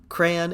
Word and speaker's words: crayon: that's for episode two crayon is the only right way to pronounce it I'm atg I'm atmosphere